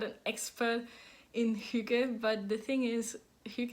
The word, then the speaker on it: hygge: It's a U. So it's not a U, as many people say, it's an U sound.